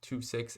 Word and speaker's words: II-VI: spelled ii-vi um but I believe that's pronounced 26 as in the Roman numerals um because the company